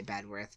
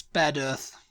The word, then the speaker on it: Bedworth: Out uh bedworth yeah I would just say bedworth but I obviously that's not right it's bed Earth bed Earth yeah better the the the